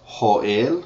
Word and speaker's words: Joel: is heras Ezekiel is Ezekiel Daniel is Daniel it's spelled the same way Daniel Hosea is OAS Joel is hoel spelled the same way Amos is Amos spelled